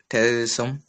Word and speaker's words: terrorism: Terrorism. Z. Zam. Not sir. Terrorism. Yeah. So it is a z, not sir.